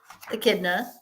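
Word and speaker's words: echidna: It's pronounced akidna.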